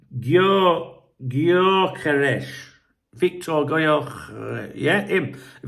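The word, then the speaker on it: Gyökeres: You know what I'm like with pronouncing names. It's Gyokeres.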